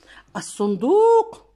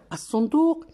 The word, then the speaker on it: الصندوق: الصندوق أخبئ فيه ما أخذه من ثمار لذيذة. الصندوق لام تكتب ولا تقرأ.